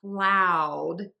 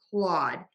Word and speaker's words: Claude: People will say cloud instead of Claude. And I think it's because of the spelling with that AU. People think you're supposed to kind of add another sound in there.